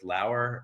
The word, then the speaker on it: Lauer: They're at Lauer Family Foods, spelled like flour. It rhymes with Lauer.